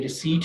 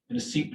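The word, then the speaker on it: receipt: और ये रिसीट है, यानी इसकी जो प्रॉपर प्रोनाउंसिएशन है इसमें पी जो है वो आप आमतौर पे गलतुल आम के तौर पे सुनते हैं कि जी रिसिप्ट जो है वो दे दें,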